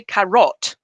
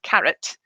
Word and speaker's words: carrot: the word carrot okay if you say karat instead of carrot it doesn't matter how